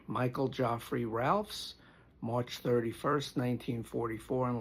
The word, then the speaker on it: Geoffrey: He was born Michael Geoffrey, although I think in England they pronounce it Joffrey. Michael Geoffrey Ralphs, March 31st, 1944, and like I said, he passed June 23rd, 2025.